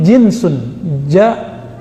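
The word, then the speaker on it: جنس: Itu beda lagi ya, jins itu bacanya ya. Kalau ini jinsun, jim nun sin, jenis bahasa Indonesia, genus dalam bahasa pengetahuan lama ya.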